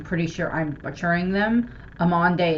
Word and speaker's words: Amande: sure I'm butchering them amande is the only one that I'm fairly certain I'm pronouncing it right just because it's very similar to my name um and well